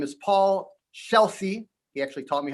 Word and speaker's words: Scelsi: And his name is Paul Scelsi. He actually taught me how to pronounce his last name.